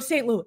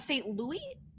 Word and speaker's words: St. Louis: Jodie Slaughter: From St. Louis. (pronounced loo-iss). Andrea Martucci: Is that how you say it? St. Louis, not St. Louis (Loo-Eee).